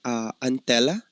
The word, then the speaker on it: Antela: Yes, you mentioned Antela. Is that correct? Am I pronouncing it right?